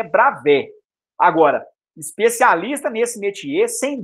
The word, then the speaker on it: Bravais: E esse final em substantivos A e S, ele costuma ser pronunciado como E mesmo, um E mais aberto.